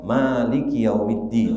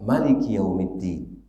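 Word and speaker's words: مالك يوم الدين: kalau mengatakan dengan kalimat Malikiyaumiddin Hai bisa dibaca Malikiyaumiddin dua cara membacanya bisa jadi emaknya panjang bisa jadi emaknya pendek tetapi berbeda dengan surat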